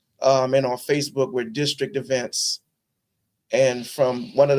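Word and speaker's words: DSTRKT: The name of our company is District, but it we spell it D S T R KT.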